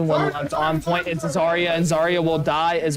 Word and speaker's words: Zarya: He'll push back some of the players very nicely as the Zyra. I don't know how to say it. Zarya, thank you.